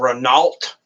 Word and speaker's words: Renault: It's spelled Renault with an L and a T, but it's pronounced Renault.